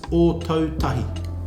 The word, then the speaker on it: Ōtautahi: Christchurch, that's another one, is Ōtautahi. Ōtautahi. Ōtautahi. Ōtautahi. Well done. How about your hometown, Hikawai? How do I pronounce Rotorua properly?